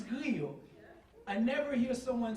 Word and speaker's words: griot: food, I never somebody call griot lechon. It's griot.